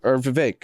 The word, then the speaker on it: Vivek: other people call him Vivek. Yeah. So you can call either way. Yeah. So I'm gonna play that. Well, Ramaswamy says Vivek like cake, so yeah. And my best friend, his name is Vivek.